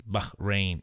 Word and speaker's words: Bahrain: You have to pronounce the H. It's Bahrain.